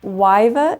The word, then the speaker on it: Yva: So, this brand is, I believe, pronounced Wyva Expressions.